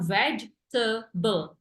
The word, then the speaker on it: vegetable: Jadi kan kalau kita lihat tulisannya vegetable, 4 ya. Padahal 3 doang. Cara bacanya pronunciation-nya adalah vegetable, tebel bukut bel gitu ya.